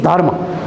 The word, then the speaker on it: Dharma: the primary thing is dharma. In Buddhism it is also called Dhamma. So that is the only difference of language. In Pali it is pronounced as Dhamma. In Sanskrit it is pronounced as Dharma.